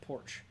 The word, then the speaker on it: Porsche: eventually knocks Jaguar okay it's pronounced porch we're gonna see so